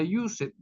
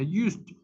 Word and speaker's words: used: agreg una d y esa terminación e d no se pronuncia Used se pronuncia Used I Used yo usé